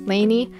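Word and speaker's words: Lanie: and i call her lonnie because my grandma's name is also lonnie and so i just thought that that was the pronunciation but i guess it's lainey that i'm still going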